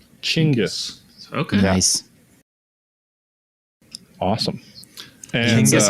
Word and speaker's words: Chinggis: So if you want to be proper Mongolian, you would say Chinggis. Chinggis.